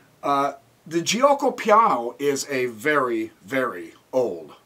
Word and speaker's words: Giuoco piano: Right now, let me start out with the Giuoco piano. I think that's how you pronounce it. I used to call it guaco, so I call it the guacamole opening.